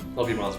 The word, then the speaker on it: Lovibonds: How do you pronounce it? Yeah, LOVIBONDS Brewing.